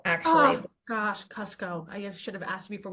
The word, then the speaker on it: Kucko: Katie Schubert, but we also have a special guest today, Cuco. I'm saying your name right, last name right, correct? It's pronounced Cusco, actually. Oh, gosh, Cusco.